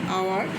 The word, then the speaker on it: hour: an amen hour we don't uh we don't pronounce hour we see we say our so we have we have used and before